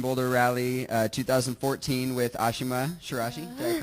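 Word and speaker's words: Ashima Shiraishi: at the Portland Boulder rally uh 2014 with Ashima shirashi did I pronounce that correctly yeah you did okay excellent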